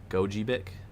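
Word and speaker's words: Gogebic: Gojibbeic. Emphasis on second syllable.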